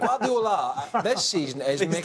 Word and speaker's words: Guardiola: I'm trying to say his name right, but Guardiola. Correct. Guardiola this season is Please making...